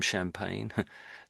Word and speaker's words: champagne: Like something like champagne, the wine or the the bubbly wine from Champagne. From France, I should say that's got the same sort of sound on the end there. It's basically just pain really.